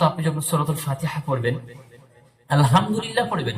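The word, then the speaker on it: الحمد لله: কারণ আপনার গুনাহ হবে আপনি গলার ভিতর থেকে হা আনবেন আল হা আলহামদুলিল্লাহি রাব্বিল আলামিন আলামিন পড়বেন না আলামিন মানে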